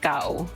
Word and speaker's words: Gao: Gao is a Japanese onomatopoeia originally, so it's not very French pronunciation. I see. Gao.